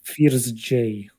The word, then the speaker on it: Firzj: It's like Fears J. It's not like from the word fears in Russian.